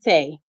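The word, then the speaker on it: Tae: on Facebook no Tay just Tay okay I'm sorry spell it one more time T a e t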